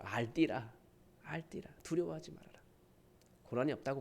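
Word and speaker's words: אל תירא: 뭐냐면 알띠라, 알티라, 알띠라. 그래서 히브리 발음으로 알띠라, 알띠라.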